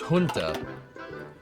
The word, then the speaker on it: junta: It's pronounced junta. Yeah, I suppose you're right, because Spanish.